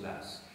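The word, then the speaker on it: Law: s'écrit la a W en écosais ça se prononce las franç en anglais on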